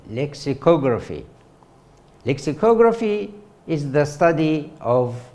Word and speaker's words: lexicography: which is entitled lexicography the stress is on the third syllable lexicography lexicography is the study